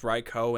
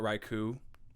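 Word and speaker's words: Raikou: right that combined with the fact that it's pronounced ryko and not raiku is it's so heartbreaking to me they're not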